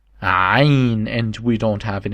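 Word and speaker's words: عين: we use it a lot, and it's called Ain, and we don't have it in English. Ain. We spell it like Al.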